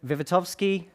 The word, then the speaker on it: Wiwatowski: half an hour um my name is vitovsky well done to anybody who knows to actually pronounce that last name but that's okay um